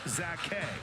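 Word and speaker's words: Zache: Spelled Z-A-C-H-E. Pronounced Zake.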